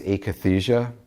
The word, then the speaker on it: akathisia: It's been described as akathisia. It's spelled A-K-A-T-H-I-S-I-A.